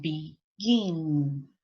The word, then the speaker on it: begin: Lección número 6 dice que el verbo tiene dos sílabas nuevamente, pero ahora la sílaba que está acentuada es la última. Por ejemplo, admit, prefer, and begin.